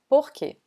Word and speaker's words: porquê: The 4th are pronounced porquê, porquê. Or you can say porquê, porquê. We've been telling you that O sometimes is pronounced like U, right?